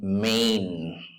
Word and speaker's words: Maine: look at the screen and try it in the year 1918 he was born in Maine Maine the word is pronounced as Main like Lane pain Main Sota second syllable